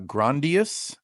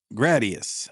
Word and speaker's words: Gradius: double feature of uh, Grandas. I hope I'm pronouncing that correctly. Wait, wait, wait. Is it Is it Gra Gradia or or Gradius? Gradius. Okay. Sorry. Keep going. Um, Gradius. Yeah, you're right.